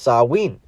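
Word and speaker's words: Samhain: its roots in the ancient Celtic Festival of samhan a GIC word pronounced sawin it a Pagan religious celebration to welcome the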